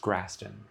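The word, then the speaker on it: Graston: And then uh grass grasson technique. Uh it's usually pronounced grsten.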